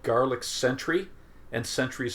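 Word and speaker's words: Scentry: There's also a product called Garlic Sentry, and Sentry is spelled S-C-E-N-T-R-Y.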